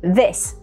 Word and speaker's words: this: В слове this мы произносим краткий звук «и», и на конце глухой звук «с» – this.